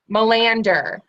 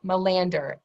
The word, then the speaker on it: Melander: say your last name one more time Melander that's it Melander and you guys can see her name on the screen there but Melander is how you say the last name there